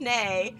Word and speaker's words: Nay: But if you haven't already followed Amazing Nay, they go by they, and it rhymes with hey, and her name is Nay.